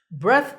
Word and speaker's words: breath: breath smells of alcohol notice that the last sound in this word is like in thing take a deep breath